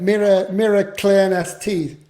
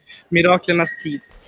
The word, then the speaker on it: Miraklernas tid: Mirror clearness teeth. Miraklernas tid. There you go. There you go. Correct pronunciation.